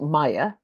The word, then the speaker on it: Miah: intro to Maya Arnold and the name is pronounced Maya as Le that takes me a while when